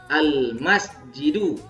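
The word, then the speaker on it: المسجدُ: Kemudian kalau pakai alif lam menjadi al masjidu.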